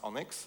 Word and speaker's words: ONNX: It's pronounced Onyx, like a Pokemon.